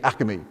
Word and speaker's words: Acme: Now, if you're from Philadelphia, we don't say Acme the right way, we say Acme. It's 3 syllables.